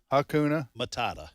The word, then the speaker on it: Hakuna Matata: Tom and making him pronounce the word again because I can't pronounce it myself. Hakuna Matata. It's Hakuna Matata.